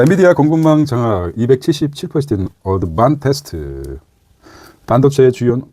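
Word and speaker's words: Advantest: 이제 어드밴티스가 아니라 어드반테스, 일본식으로 발음 아닙니까?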